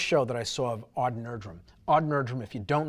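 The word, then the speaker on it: Odd Nerdrum: that i saw of aud nerdrum aud nerdrum if you don't know who he is the name is spelled odd last name is nerdrum n-e-r-d-r-u-m he's they call him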